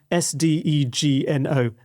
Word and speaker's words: sdegno: How do you pronounce it? Do you know how to do it? I don't know. What's the word? The word is Sdegno.